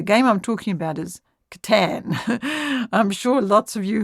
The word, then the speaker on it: Catan: Katan and some well I believe the correct pronunciation is Katan Katan okay because it's German okay well so